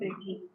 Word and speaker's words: aigu: Okay, so let's start from accent aigu.